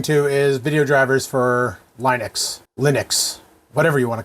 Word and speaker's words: Linux: GeoScout87 says Linux, not Line X.